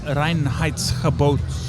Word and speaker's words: Reinheitsgebot: We can't pronounce that. What's Reinhard who? Reinheitsgebot.